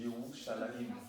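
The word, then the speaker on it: ירושלים: C'est comme Jérusalem, ça s'écrit J-R-S, et ils disent à Yerushalayim, tu vois, J-R-S-M, et ça se dit Yerushalayim, tu vois, et ils lisaient ça en fait, c'est leur langue en fait, tu vois.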